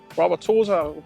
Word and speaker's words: Wauwatosa: So I find this wood, I find this light pose, the Wauwatosa rhymes with Mama Rosa.